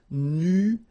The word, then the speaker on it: nuageux: This can be quite tricky, but take the time to nuageux. Remember, final X here, not pronounced.